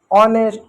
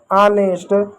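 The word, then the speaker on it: honest: कुछ शब्दों में एच भी साइलेंट होता है। मुख होता है। विशेष को ऑनेस्ट आवर। जैसे शब्दों में एच साइलेंट होता है। जैसे आवर ऑनेस्ट गोस्ट एच का उच्चारण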